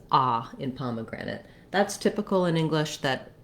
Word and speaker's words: pomegranate: syllables have reduced vowels this is where my primary length is going to be so i'm holding the palm syllable the longest but i have a little maybe a little length because of my clear vowel on the grand syllable so pomegranate for all